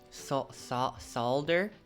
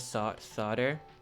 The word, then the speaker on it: solder: Do you pronounce the L? feel like you don't pronounce the L. Soldering iron. Isn't it soldering? I'm really bad at pronouncing stuff. Yes? Yes what? No L? Okay. I gotta take my L.